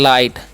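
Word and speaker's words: light: गया रैप ठीक है एल आई जीटी है तो यहां पर जी साइलेंट होता है इसलिए हम पढ़ते है लाइट एल आई टी है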